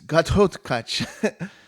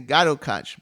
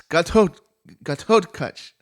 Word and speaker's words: Ghatotkacha: So it's Ghatotkacha. I used to say Ghatotkacha, but you got to say it right. It's the wrong. It's Ghatotkacha.